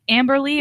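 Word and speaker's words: Amber-Lee: So is it still pronounced Amber Lee, or is it like Amber Dash Lee? No, there's you don't pronounce the dash.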